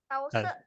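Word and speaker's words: 陶寺: Tause. Tahu hampir bukan Tause. Tahu sih? Nah, Tausi. Palsu. Soalnya kalau di Mandarin cara bacanya Tause.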